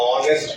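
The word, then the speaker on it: honest: ऑनेस्ट ऑनेस्ट word को जब आप पढ़ते हैं तो उसमें एच साइलेंट होता है। एच नहीं सुनाई देता है यानी साइलेंट होता है। तो जब आप पढ़ते हैं इसको तो ऑनेस्ट पढ़ते हैं।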